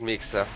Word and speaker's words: Mixa: By the way, we got a confirmation from LevelUps coach Booktop that the correct pronunciation for Mixa's name is with an S, not with a SH. So, it is in fact Mixa.